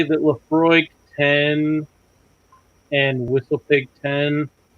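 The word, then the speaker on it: Laphroaig: How do you pronounce that? Lafroig. Lafroig.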